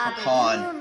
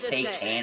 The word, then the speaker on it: pecan: lamina galba it is a pecan tree it's pronounced pecan i say pecan that's the way it is oh the light's